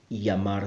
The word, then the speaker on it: llamar: sound and five again most Spanish speakers around the world will pronounce the Double L as a year sound for example llamar say may llamo my